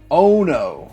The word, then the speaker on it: Ono: it looks pretty interesting it's called uno ono ono not uno okay i'm gonna talk